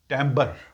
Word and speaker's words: timbre: एक वर्ड आता है टमर इसकी स्पेलिंग तो है टी आई टी आई एम बी आर ई इसको बोलते हैं टम ब ये र भी साउंड हल्की सी है टम बेसिकली वॉइस की साउंड